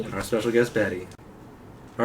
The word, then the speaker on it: Bat-E: I meant Batty, but anyway. Yeah. All right. E. Bat-E. Bat-E. That's how we'll spell it. B-A-T-E. All right. Like Wall-E, Bat-E.